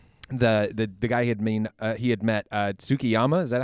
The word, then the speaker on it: Tsukiyama: The guy he had met Tsukiyama, is that how you say his name?